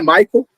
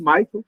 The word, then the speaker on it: Michel: as pessoas é Michael Micael eu sei que meu nome não facilita muito a vida de vocês estão já ajudando meu nome é Michael pronuncia-se Michael n do jeito americano mesmo eu sou brasileiro Apesar